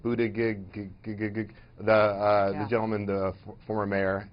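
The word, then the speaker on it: Buttigieg: Biden I can never say his name right Buddha gig the gentleman the former mayor and and now never head are the sort of perceived moderates boot boot edge edge okay these folks will compete with each other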